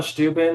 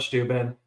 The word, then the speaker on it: Steuben: So it's pronounced one way in Prussia where he came from, and then he came to the U.S. and everyone pronounced it wrong, and he's like, "That's fine." So let's just go with it.